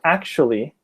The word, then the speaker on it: actually: data actually action actually I know that when it's written actually-- it looks like four syllables but in practice when you speak it you only use three actually actually multiple actually